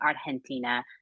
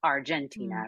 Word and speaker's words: Argentina: of our creative team, made the decision to pronounce everything that we could authentically. So we say, don't cry for me, Argentina, not Argentina, right? Because that is how our company members would pronounce it, how it would be pronounced in Argentina. But that had to be a conversation with the rights holders because it was written with a hard G.